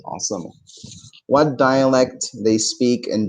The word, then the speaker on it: عاصمة: عاصمة بالصاد مش سين. No, صاد. عاصمة.